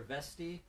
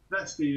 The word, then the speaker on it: Veste: Is it Veste or Vesti? Either is fine. I don't mind either. As long as you don't say Vest, that's the one that really makes me just disappear. what's your preferred pronunciation? Vesti is perfect.